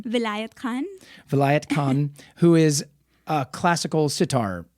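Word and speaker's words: Vilayat Khan: specifically about this artist you're gonna have to pronounce his name again what's his name Vinayak Khan Vilayet Khan who is a classical sitar player so the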